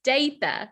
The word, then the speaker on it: Datha: said my name is david it's a long a but that's that's fine